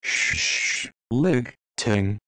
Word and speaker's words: Schlichting: my old classmates schlichting he pronounced it as shh Lig Ting but I don't know